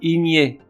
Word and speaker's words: igné: Igné, I-G-N-E, adjectif qui admet les deux prononciations, igné et igné.